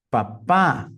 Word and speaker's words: Papa: osca interessante pi para papa papá oh very nice Olha que interessante a segunda sílaba é a mais forte então taxi vi a